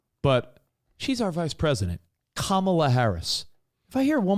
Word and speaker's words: Kamala: It's Kamala Harris.